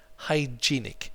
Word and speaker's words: hygienic: less than hygienic to say the least hygienic hygienic is the correct pronunciation hygienic okay and that means clean and